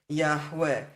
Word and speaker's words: Yahweh: And just keep in mind, I'm not questioning the pronunciation Yahweh. I've already shown you Yahweh cannot contract to Yahu, and this comments in Yah and Yahu demand that we have a patach as the first vowel in the Creator's name.